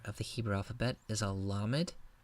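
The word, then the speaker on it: למד: the Hebrew alphabet is a low mid pronounce like English L la mid the next letter is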